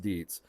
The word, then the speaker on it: Dietz: think that uh Deets which I know I mispronounced at the beginning of video I believe it's pronounced Deets uh didn't perfect the